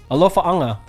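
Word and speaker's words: Alofaaga: Alofa anga.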